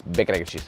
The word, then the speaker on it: bacon, egg, and cheese: please be aware that if you're in New York, for some reason it's all one word. It's bacon, egg, and cheese. The less syllables, the better, I would say.